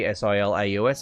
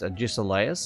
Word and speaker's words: Agesilaus: It's Agesilaus. It's pronounced Agisilaus.